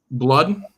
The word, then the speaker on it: Blood: How do you say his last name? Blood. B-L-U-D.